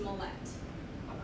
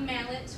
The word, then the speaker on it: Millet: Millet comes from my dad, and it's pronounced Millet. Not mallet or mullet or millet, because I have heard all of the above.